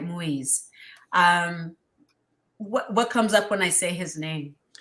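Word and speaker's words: Moïse: Moise. Right, Moise.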